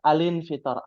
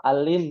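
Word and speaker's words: الانفطار: ini Hamzah was Infitar alinfitar Alin Alin Alin ya bukan Al in bukan ya alinfitar suratul suratulinfitar namanya ya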